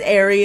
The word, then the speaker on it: Eri: this girl's name wrong he says I have a feeling it's Airy and I'm like it probably is but you know I've been saying Erie for the last like I don't know